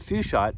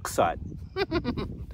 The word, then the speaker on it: Fuchsite: kenite zoite and although many people call it fusite it's actually pronounced fite anyway what you may notice is that you